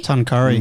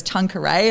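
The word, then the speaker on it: Tuncurry: through um Foster and is it tan Curry tan Curry thank God I pronounced that right because honestly I've been really struggling with that I think I said it was Tanqueray in my like Instagram I was like oh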